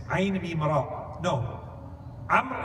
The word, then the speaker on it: Amr: Amr is written Ayn Mim Ra Waw. There's one more letter at the end of the name Amr in Arabic that's not pronounced. You don't pronounce the waw.